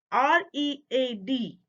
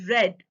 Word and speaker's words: read: one if you see r e a d is the word but the pronunciation is different for present you say read and for the past you say red but still the spelling